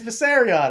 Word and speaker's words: Viserion: It's Viserion.